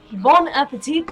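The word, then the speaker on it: bon appétit: Bon appetit, Lana. Your interest, also, I don't know why I pronounce the T so hard, that's literally the opposite of French.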